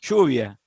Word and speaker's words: lluvia: The rain, lluvia. Okay. Here in Argentina we say lluvia, like a S and an H.